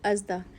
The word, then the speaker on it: ASDA: मैं एस्टा चली गई जो इंग्लिश लोग हैं व उसको प्रोनाउंस करते हैं एडा और हम देसी अजदा पाकिस्तान में तो हम